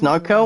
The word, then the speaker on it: Norco: out the launch server called narco n-o-r-c-o evan that's how you pronounce narco or no kill i'll